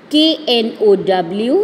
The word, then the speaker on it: know: We should know. K-N-O-W. Here K is silent, so we will read it as know.